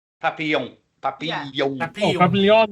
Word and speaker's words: Papillon: So it would be pronounced the French way, because people don't realise that about Vietnam, that they were primarily a French-speaking country.